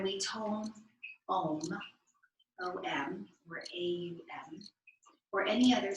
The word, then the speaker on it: Om: It is pronounced A-U-M.